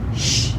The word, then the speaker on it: Chut: And she bought this place and she named the whole thing the Shh. What do you say when you ask a child to be silent? And you spell it C-H-U-T.